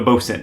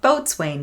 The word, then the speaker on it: boatswain: You know what a bosun is, right? I know what it is. I pronounce it boatswain because I'm silly, but it's bosun.